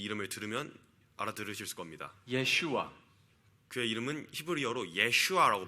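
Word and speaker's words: ישוע: Yeshua. 그의 이름은 히브리어로 예슈아라고 발음되는데요.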